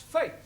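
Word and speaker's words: fête: for example f e t e is also pronounced Fai one one no no our feet I told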